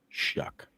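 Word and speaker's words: Shough: S H O U G H. But it's pronounced Shuck.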